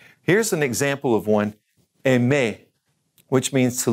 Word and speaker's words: aimer: First of all is aimer, aimer, and espérer, espérer, parler, parler, to speak, remember